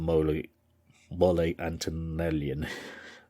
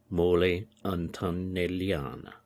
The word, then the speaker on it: Mole Antonelliana: He's also very famous for designing a very well-known dome called the Mole Antonellian. Mole Antonellian. I'll have to get the pronunciation right. Mole Antonelliana.